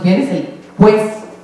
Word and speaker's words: pues: pronunciemos bien es el pues. Decimos pues. Se dice pues. Pero ni siquiera una U, es una P y una S.